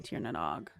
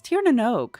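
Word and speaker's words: Tír na nÓg: Find the gnome in Tierog. I always pronounce it wrong. It's Tieranog, I'm pretty sure. Um, and I always do it wrong. I always say Tanog.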